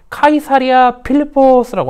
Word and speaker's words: 가이사랴 빌립보: 예수님은 아까 얘기했던 대로 제자들과 함께 가이사랴 빌립보라는 도시에 이르렀어요. 이거는 우리식으로 하는 발음이거든요. 이거를 로마식으로 하면은 카이사리아 필리포스라고 하는 곳이에요.